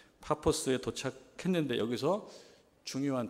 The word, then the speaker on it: 파포스: 발음할 때 바보인 거지 영어식 발음으로 뭐 파포스 이렇게 발음하는 것 같아요 파포스에 도착했는데 여기서 중요한 두